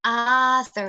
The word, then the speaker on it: author: mean a lot of my students mispronounce this word author เนี่ยเยอะมาก it's actually Arthur it's not all นะคะ it's okay I'm